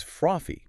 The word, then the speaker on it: frothy: The word is frothy.